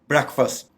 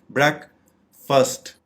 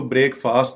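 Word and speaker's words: breakfast: हम इसकी दुरुस्त प्रोनाउंसिएशन है ब्रेकफास्ट। ब्रेकफास्ट इसके 2 सिलेबल्स हैं, जैसा कि हम स्क्रीन पे देख रहे हैं, ब्रेकफास्ट, इसलिए इसको ब्रेकफास्ट नहीं बोलना। इसकी करेक्ट प्रोनाउंसिएशन है ब्रेकफास्ट, नाश्ता।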